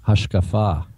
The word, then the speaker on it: hashkafa: not solos scriptor Caleb it's not worldview it's hashkafa a Hasa okay I'm sorry hashkafa yes but how does he spell that uh h a s h k a f a hashkafa um but yeah he's taking that that's